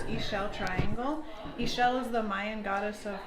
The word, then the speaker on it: Ixchel: have to tell us what is what is Michelle Triangle what does it mean okay everybody usually has a hard time that name it is pronounced Michel triangle he shell is the Mayan goddess of fertility and midwifery